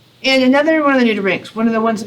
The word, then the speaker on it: nudibranch: It's a common mispronunciation actually to call it a nudibranch, because branch is what it looks like, but it is nudibranch because like our bronchioles and whatnot, those are the nude lung parts.